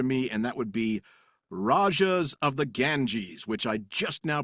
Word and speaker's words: Rajas of the Ganges: And that would be Rajas of the Ganges, which I just now pronounced right, maybe for the first time ever.